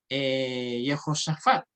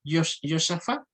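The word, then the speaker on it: יהושפט: Lo mismo que el nombre Yehoshafat. Josafat es en hebreo y Yosafat es arameo. ¿Ya? O sea, el arameo tiende a cortar los nombres.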